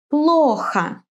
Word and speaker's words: плохо: In some words, the accent falls on the first syllable. Тата. Плохо.